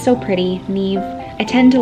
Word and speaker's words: Niamh: It can be pronounced Niamh or Niamh.